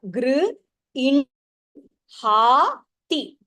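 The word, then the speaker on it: गृह्णाति: So when the hakaraha is followed by Anunasika, then you pronounce the Anunasika first and then you say the hakaraha. Gr, in, ha, ti, grinhati.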